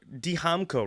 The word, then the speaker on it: Dijamco: So, Damco, right?